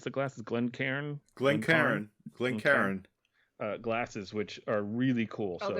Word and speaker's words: Glencairn: you gave us of the how do you pronounce the glasses? Glencairn glasses, which are really cool.